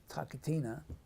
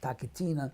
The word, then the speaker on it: TaKeTiNa: It's again T in the front of the mouth, K throat, T again throat, and then N. So it's like TaKeTiNa.